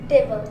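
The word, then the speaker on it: table: টেবিল অথবা টেবিল বলি কিন্তু এটার কারেক্ট উচ্চারণটা হচ্ছে টেবল কি হবে টেবল আবার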